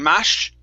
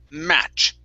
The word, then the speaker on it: match: in the air okay instead of saying mash it's match okay stop stop the sound